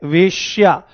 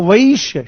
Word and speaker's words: वैश्य: एक शब्द है ये वेश्या। बहुत सारे लोग ये समझ ही नहीं पाते हैं कि कहां पर दो मात्राएं हैं, कहां पर एक मात्रा है। तो वैश्य शब्द है, वैश्य।